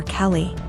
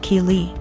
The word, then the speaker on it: Keely: A couple times more and I realized she was calling my daughter Kelly. My daughter's name is Keely, pronounced Keely. So after school was over